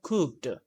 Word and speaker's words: cooked: But it's not cooked, cooked, or cooked. No, it's cooked. Cooked. The last sound is a T sound, cooked.